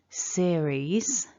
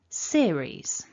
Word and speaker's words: series: And our strongest syllable, indicated by the blue mark at the top on the left, is the first syllable. So when we say the word series, we want seer to be stronger.